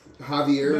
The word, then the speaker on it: Javier: Javier is They spelled with a speak, J, they speak not an Portuguese H.